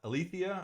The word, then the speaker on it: aletheia: think of that project alathia aletheia i believe is how you pronounce it it's basically the greek